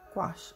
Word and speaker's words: gouache: And if you're going for a real pastel, you can add what's called gouache.